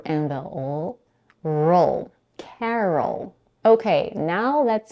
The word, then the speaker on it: Carol: in the second syllable R which is unstressed and because it's un stress the vowel is reduced to awah the schah is the most relaxed vowel in English it sounds like uh nice and short the lips are slightly open and the tongue is super relaxed uh and at the end we have the dark L see how the schw